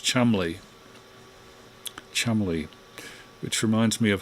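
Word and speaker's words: Cholmondeley: read it would be chol mondeli c-h-o-l-m-o-n-d-e-l-y chol mondelee and apparently it's pronounced chumley chumley which reminds me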